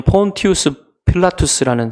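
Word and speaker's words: Pontius Pilatus: 여러분이 본디오 빌라도라는 사람은 원래 발음으로 하면 폴티우스 필라투스라는 사람인데이 사람은 어 주후 26년부터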